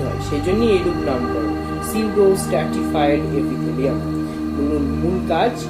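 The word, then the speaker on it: pseudo: এবং পঞ্চম আমরা যেটা চলে আসছি সেটা হচ্ছে সিউডো, অর্থাৎ পি সাইলেন্ট সিউডো এখানে।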